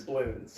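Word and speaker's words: Bloons: saying balloons or balloons so it's spelled wrong it's spelled b l o o n it is bons it's bons I like the sniper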